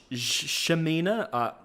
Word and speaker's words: Ximena: Is it Shemina, like Mandarin, like Shemina, or is it Xamina? Jayce's mother, it's Ximena. Shemina.